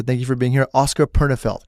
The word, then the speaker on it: Oskar Pernefeldt: Oskar Pernefeldt, correct? Yeah. Did I say it right? Yeah. Oskar Pernefeldt, thank you for coming to the Ourselves podcast.